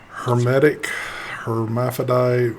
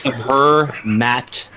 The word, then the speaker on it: hermaphrodite: but Recurve with the Hermephrodite. I don't know. Y'all are going to have me thinking all kind of different words. It's Hermaphrodite. Hermaphrodite. No, Hermaphrodite. Hermaphrodite. Hermaphrodite.